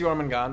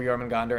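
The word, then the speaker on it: Jörmungandr: Midgard Serpent, you know, which I think is Jormungand, right? Or Jormungandr. I think it can be pronounced either way.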